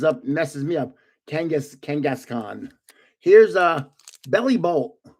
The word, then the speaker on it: Kangaskhan: Kangaskhan. That's how you say it.